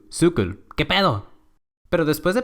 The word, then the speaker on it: cykel: chido, Lyngby, pero resulta que esta palabra se pronuncia Lyngby. O también la palabra bicicleta en danés, que es cykel.